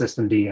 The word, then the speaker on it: systemd: I know it's pronounced systemd.